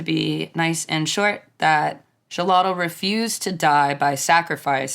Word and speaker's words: Xolotl: be the Aztec god of fire and lightning shalot and I did have to look up the pronunciation for that but Shalott was viewed as a being that defies death